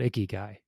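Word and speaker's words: ikigai: and they all align that's called icky guy right um again it's spelled it's spelled i-k-i-g-a-i i'm worried about people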